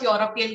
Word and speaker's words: Europe: talking about whole of european country second it will not be and because it does even if it starts with e the pronunciation is europe yeah so your is not a vowel hence an is cancelled